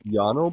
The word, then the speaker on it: JANO: Is it Jano or Jonno, Chad? I'm pretty sure it's Jano because it's in Finland. So, I think they pronounce the J as as Y as uh we do